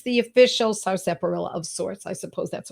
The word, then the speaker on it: Sarsaparilla: So the medicine I want to talk about tonight is Sarsaparilla, not Sarsaparilla. I've heard it pronounced all different ways. It's S-A-R, sap, S-A-P. It's just the way it sounds. A-R, illa, I-L-L-A.